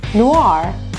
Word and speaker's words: Noir: Noir, it's that R sound, O-I-R. It's quite difficult, but it's beautiful when you say it correctly.